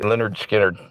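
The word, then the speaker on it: Lynyrd Skynyrd: Yeah, it's spelled L Y. N Y RD, believe it or not, Leonard. See, Leonard Skinnard.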